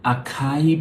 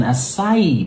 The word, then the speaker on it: acai: It's an acai berry. Acai. Yeah, you stress the I. Acai, acai, acai. Yeah, maybe that'll help you remember it. Acai, acai, acai berry.